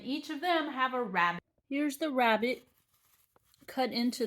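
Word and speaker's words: rabbet: that we're building so the first one is a rabbit okay this is not the little thing that topped through hop hop along bunny rabbit but maybe shows up at Easter instead it's spelled a little differently r-a-b-b-e-t and it is a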